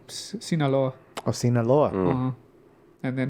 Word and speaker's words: Sinaloa: Sinaloa.